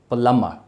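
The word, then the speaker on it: plumber: So that word will be pronounced as प्लम्बर, प्लम प्लम्बर, यानी इसमें ब sound भी नहीं और र साउंड भी नहीं।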